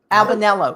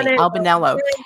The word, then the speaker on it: Albanello: Albanelo, excuse me, Albanelloo. Yeah, Albanelloo, which interestingly looking it up, if you say Albanella, it's the Marqu and Albanelloo is Sicily.